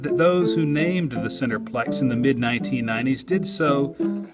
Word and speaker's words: Centreplex: A decade ago, when I called the Centreplex and asked someone who answered the phone there how they pronounce Centreplex, I was told they put the tra in there.